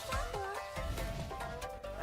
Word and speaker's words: HuoHuo: Just call me HuoHuo. Okay, so that's how it's pronounced.